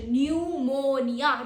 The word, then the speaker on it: pneumonia: Pro tip is PN sounds just like N. It sounds just like N. P is not in here. We just say pneumonia, not. PN is not even there.